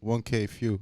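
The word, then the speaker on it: 1K Phew: son shout out uh 1K phue is that how you say his name that's exactly how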